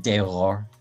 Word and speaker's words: Dehors: I would just Dehors. Yeah. Dehors. You don't have to say the S on the end.